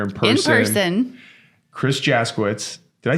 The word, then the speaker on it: Jaskiewicz: him right here in person in person Chris jitz did I say it right you did oh